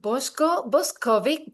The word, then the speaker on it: Boshko Boskovic: Today I am with Boshko Boskovic. Did I pronounce it well, Boshko?